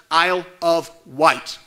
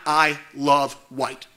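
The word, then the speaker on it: Isle of Wight: remind the board that this county is pronounced Isle of white not I love white school board members have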